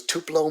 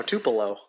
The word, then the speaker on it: Tupelo: It was Tupelo, Mississippi. Tupelo, Tupelo. I Mississippi. remember thinking, oh, Tupelo. And then as soon as I get there, I realized immediately that it's not pronounced Tupelo.